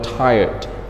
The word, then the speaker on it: tired: We're tired. So how many syllables are there in one of this word? Yes, very good. Only one syllable.